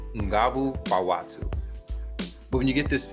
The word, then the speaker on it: Nguvu Kwa Watu: The actual pronunciation in Swahili is Nguvu Watu.